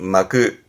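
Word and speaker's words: 巻く: 근데 주로 이제 동사로 쓰게 되는데 이게 발음이 마크.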